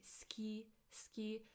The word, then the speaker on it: 好き: 好き好き好き I know that we write 好き but when we say it, we say 好き好き It's as if the u disappears.